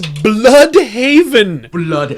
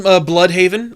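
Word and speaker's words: Blüdhaven: I think, honestly, the one that's worse than Crime Alley is Bloodhaven. Oh, but it's spelled weird. It's B-L-U-D. Yeah, it's spelled wrong. Blood... Because that's what it is. An umlaut makes it blue.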